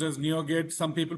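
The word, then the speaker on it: NuGet: Okay, it's pronounced as NeoGet. Some people pronounce it as Nugget, right?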